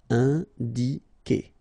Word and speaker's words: indiquer: Alright, keep in mind that when you get this Q and U after, and obviously a vowel, then U is not pronounced at all. Okay, so it's K. K here. You don't pronounce the U. Indiquer.